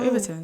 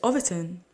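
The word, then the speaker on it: Overton window: overon window ovon window is it overon do I say it wrong it's ovon that's how we said I say over 10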